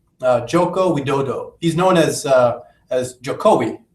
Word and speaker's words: Jokowi: He's known as Jokowi, right? Am I pronouncing it correctly?